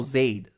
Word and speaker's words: Zaid: But Zaid rhymes with blade. So Zaid, I guess.